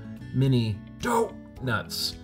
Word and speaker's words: Mini Doh!nuts: just so we're clear the correct way to pronounce it is mini dop nuts for those of you who are huge Simpson